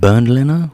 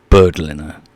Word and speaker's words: Bernd Leno: that's how you say his name is it bernd leno or birdlinger nice 10 million euros though